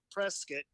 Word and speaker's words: Prescott: If you're anywhere outside of Prescott, you pronounce it Prescott. I'm down the Phoenix area. But if you live here, it's Prescott.